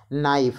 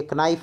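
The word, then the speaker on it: knife: नाइफ, ये कनाइफ नहीं है, ये नाइफ है, के साइलेंट है, तो यहाँ पर भी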